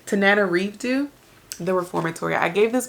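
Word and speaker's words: Tananarive: Tana RDO Tanana RDO I feel like I've been pronouncing her name wrong this entire time tan Nana reevo the Reformatory I gave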